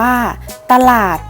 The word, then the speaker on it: ตลาด: คะ ตลาด อ่าน ว่า ตลาด คำ ว่า ตะ เรา จะ อ่าน ออก เสียง เพียง แค่ ครึ่ง เสียง ค่ะ ค่ะ จี อ่าน ว่า